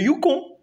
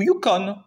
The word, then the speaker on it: Yukon: Le Yukon, ou Yukon, ça dépend comment vous le prononcez, 3185 km qui se jette dans la mer de Bering, Canada, États-Unis.